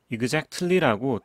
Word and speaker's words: exactly: CTLY 중에서 이 미국식 발음은 T를 유독 싫어하기 때문에 이 T를 날립니다. T를 날리면 이제 끝발음으로 C가 남게 되죠. 이 C가 이 반모음 Y 위에 L과 함께 올라타면서 exactly 이렇게 발음을 하게 됩니다. exactly라고 T 발음을 살릴 필요가 없고요. T를 날리고 C 발음을 끝발음으로 사용합니다.